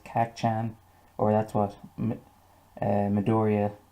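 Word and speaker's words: Kacchan: fight with kak chan i think i pronounced it wrong in the last video but his name is kak chan or that's what uh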